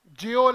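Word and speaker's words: gaol: ही नहीं हमें, fine, but right pronunciation जेओल है, गेओल नहीं है, क्या है, जा से जेओल, ठीक है, फाइन, गेल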